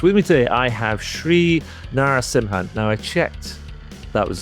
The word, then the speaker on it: Sri Narasimhan: With me today, I have Shri Narasimhan. Now, I checked that was the correct pronunciation of his uh of his name, and